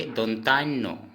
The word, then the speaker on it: ন: न, इस न को हम असमिया में कहेंगे दोनतान्नो।